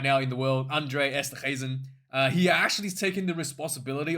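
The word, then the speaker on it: Esterhuizen: Andre Esther Hazen E apparently it's not a hard G. Esther Hazen.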